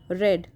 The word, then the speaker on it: read: of the verb is red although we write it like r e a d but the pronunciation is different okay in the first